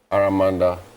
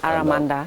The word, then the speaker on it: Aramanda: I mean um aramanda is how it's pronounced aramanda.